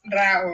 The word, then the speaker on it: Rao: you saying no my last my name is RA not not R yeah K Kate was asking